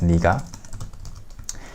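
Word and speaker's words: 네가: said you said you would do it granted Nega is pronounced as Nica yourself you just have to memorize or remember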